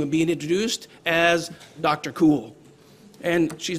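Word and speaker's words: Kuhl: Cool. And she's Dr. Cool because her last name is spelled K-U-H-L.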